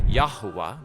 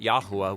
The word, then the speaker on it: Jehovah: an artificial hybrid word, which if you pronounced it, it would say Yahuwah, but no Israelite ever said Yahuwah. It's simply a visual reminder to say the word Adonai.